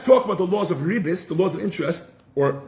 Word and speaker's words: ribbis: Again, the Hebrew word for interest is a ribis, R-I-B-B-I-S, or in the Sephardic pronunciation, ribit, R-I-B-B-I-T.